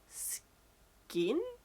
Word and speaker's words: skein: It reeled out of me like a thread from an internal skin, but it's spelled Skein.